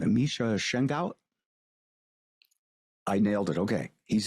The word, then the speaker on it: Misha Shengaout: I believe I'll get the name wrong. Misha Shengaout.